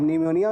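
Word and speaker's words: pneumonia: अब निमोनिया में P silent होता है।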